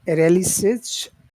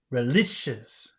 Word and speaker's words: relishes: Uh, so now that word relishes, how many syllables does that have? Really, relishes. Three Okay. relishes. And which syllable Relishes. has all of the sound? Relishes. Relishes. Relishes. Relishes. Relishes. Which one? Lis. So like Relishes. this, like this. Relicious. Is that correct? Relicious. No, no. Relishes.